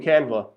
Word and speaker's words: Canva: See, it's not Canvas, it's, spell it out for you.